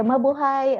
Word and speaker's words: mabuhay: long live something okay so we just say mabuhay also okay and before we formally begin i